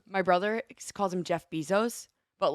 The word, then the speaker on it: Bezos: But it is Jeff Bezos. Like pesos. No, I would say like Baywatch. Zos.